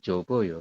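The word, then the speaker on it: 접어요: jobta itu melipat kemudian kita ambil hanya job saja ditambah dengan akhiran Oyo maka Jo o yo seperti jadi kita bacanya jobo yo seperti itu B di pahami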